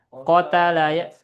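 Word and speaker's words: قَتَلَ: Nah, kita mengikuti wazannya fa'ala. Berarti gimana bacanya? Qatala ya.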